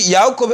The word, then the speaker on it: Yaakov: You see Yaakov at the top, but you have Jacob at the bottom. Y-A-A-Q-O, of course, is pronounced Yaakov.